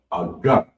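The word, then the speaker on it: עוגה: Cake is pronounced aga. And it's spelled IGHA. Aga.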